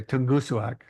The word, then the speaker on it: Tungusuak: asked that can you give us the correct pronunciation of the title I'm gonna just copy what Mark said earlier tongus suak in the shadow of tongus suak we always